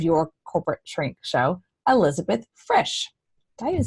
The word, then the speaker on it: Frisch: Frisch. Rhymes with fish. Super easy. Put an R in it. Frisch.